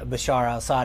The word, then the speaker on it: Bashar al-Assad: Syria with Bashar Al Bashar al- Assad in in charge Bashar al- Assad I know you've mispronounced his name a few times uh but uh it's Bashar alassad I know the uh